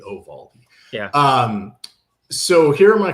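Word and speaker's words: Eovaldi: But you got to pronounce it correctly. Ovaldi oraldi. A little a little bit of a Y, not E. Oo Valdi.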